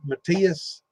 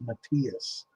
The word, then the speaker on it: Mateus: An old Matthias. I'm looking at one of those, and I remember that from back in the day. But I never considered that a cheap one. It's spelled Mateus, Matthias.